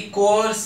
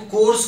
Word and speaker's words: coerce: Guys देखिए, ये जो है कोअर्स इनटू, इसे हम कैसे प्रोनाउंस करेंगे, कोअर्स है, को बीच में अ ऐसे करना होगा, कोअर्स, खाली आपको कोर्स कोर्स नहीं बोलना होगा, कोअर्स कोअर्स ऐसे बोलना होगा।